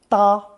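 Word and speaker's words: 搭: show on the left it's pronounced first tone da since da means a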